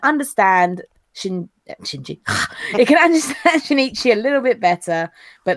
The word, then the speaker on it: Shinichi: It's Shinichi, not Shinji. Shinichi. Like I say, I've had to spell it phonetically because otherwise I will call him Shinji.